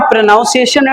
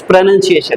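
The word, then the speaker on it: pronunciation: इट्स नॉट प्रोनाउंसिएशन, इट्स प्रोनंसिएशन।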